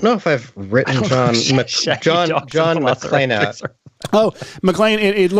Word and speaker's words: McClane: It's McClane, not McLean.